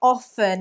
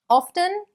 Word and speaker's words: often: Or often, yes, many of you do question the correct pronunciation. Often is fine with a T, or often.